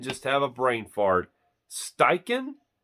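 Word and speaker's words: Steichen: have a brain fart steiken s-t-e-i-c-h-e-n now by that spelling I would not think it'd be pronounced steiken I thought it would be pronounced like staichen or something but anyway yeah like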